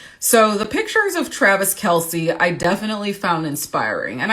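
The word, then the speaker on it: Kelce: pronounce his name and apparently it's either Kels or Kelsey but most people seem to say Kelsey so that's what I'm gonna go with today thank you miles Marianne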